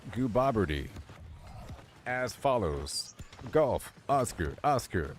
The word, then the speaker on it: Gooboberti: So it's pronounced like goo as in goo goo, Bob as in Bob. Hi, my name's Bob. As in question, and T as in T-I. T-I, like a Texas Instrument calculator.